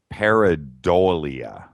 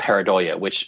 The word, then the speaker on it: pareidolia: I never say it right. Pareidolia, right? Oh, am I saying it right? You say it. Pareidolia. I think it's pareidolia. Yeah, I think it's pronounced pareidolia.